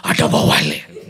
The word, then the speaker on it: Atabawale: That's how you say her name, Atabawale, okay?